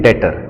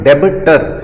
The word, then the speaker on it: debtor: देखो इसका स्पेलिंग जो है वो है DEBTOR। तो बोलते समय आपको शायद लगेगा कि इसका मतलब है इसको बोलना है डेबिटर, लेकिन बोलते समय प्रोनाउंसिएशन के समय इसमें बी जो होता है वो साइलेंट होता है।